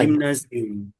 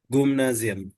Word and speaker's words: Gymnasium: না, Gymnasium. উচ্চারণটা হলো গিমনাজিয়াম। Gymnasium. গিমনাজিয়াম। Physik. এক্সাক্ট ডয়েচ উচ্চারণ হবে গুমনাজিয়াম। Gymnasium.